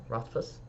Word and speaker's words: Rothfuss: I love the front with Patrick Ruthus. He says, Rothfuss?